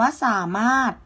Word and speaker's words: สามารถ: นะ คะ อ่าน ว่า สามารถ นะ คะ อ่า สามารถ ร เรือ ทอ ถุง เรือ ตัว นี้ จะ ไม่ อ่าน ออก เสียง นะ คะ เรา จะ อ่าน